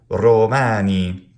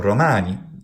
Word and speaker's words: Romani: And now finally the molossus, the molasses, urigo, romani. So it's not romani or romani. Those would be Italian words. Romani is Latin.